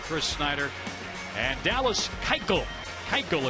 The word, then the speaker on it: Keuchel: Keuchel, it's pronounced.